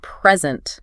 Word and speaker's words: present: But if you stress the second syllable, it means to give something.